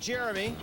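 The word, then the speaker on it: Jeriome: First of all, it's pronounced Jeremy.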